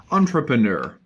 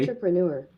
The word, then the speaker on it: entrepreneur: But in American English, they will say Entrepreneur. entrepreneur. Entrepreneur. Which I find weird. I find saying EUR as oo kind of strange.